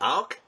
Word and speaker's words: Auch: Her name, is it Auch? A-U-C-H? Yep. Okay. Yeah, like awkward.